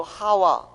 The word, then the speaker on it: 하와: 뱀이 그 간계로 이와를 미혹해 한 것 같이, 이와는 헬라어의 이브, 하와 똑같은 발음을 그렇게 우리말 번역을 이와로 한 겁니다. 사실 거기 강한 액센트가 있어서 하와라고 발음해야 정확한 발음이에요.